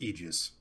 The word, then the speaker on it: aegis: talk to me about this well mike it's pronounced aegis dang it um this this reminds me of